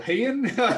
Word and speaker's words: Ryan: Everyone thinks my name is pronounced Rianne.